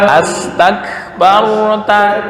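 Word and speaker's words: أستكبرت: bukan tak kok, tapi tak turun tak. Astakbarta. Ta bukan na.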